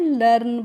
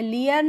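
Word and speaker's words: learn: लर्न पढ़ते हैं। लियर्न नहीं लर्न पढ़ते हैं।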